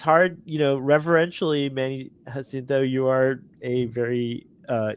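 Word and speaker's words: Jacinto: you pronounce it the right way because he pronounced it that way can you say his last name hinto hinto so Manny hinto he is so excited about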